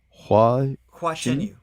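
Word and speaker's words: Hua Chenyu: Hua Chen Yu.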